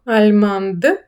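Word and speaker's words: allemande: Альма альманд. Д, яка не читається в чоловічому роді завдяки тому, що додали о, починає читатись, починає звучати.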